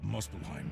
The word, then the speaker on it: Muspelheim: Let me give you a brief introduction of the history of Muspelheim first.